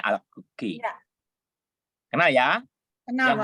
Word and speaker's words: Alacoque: Bacanya Alacoque.